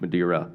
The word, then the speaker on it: Madeira: meridian Madeira thank you yeah like Madeira Beach Madeira okay yeah yeah well la m'dear okay phonetically it sounds sounds